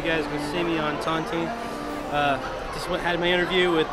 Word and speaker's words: Tontine: How do you pronounce it? Tontine.